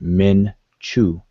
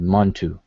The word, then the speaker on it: Montu: So between the two, we have the two examples, and this is where we get mnTw, but most of us pronounce it Montu, and that's who we're dealing with.